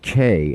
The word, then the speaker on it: quai: It's pronounced K and it means dock.